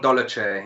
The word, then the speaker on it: Dolidze: The pronunciation of his name, Roman Dolidze.